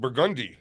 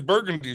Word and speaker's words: Burgundy: New Orleans there's a street that everyone knows is called burgundi but if a a tourist comes here they say where's burgundy Street briandi okay and see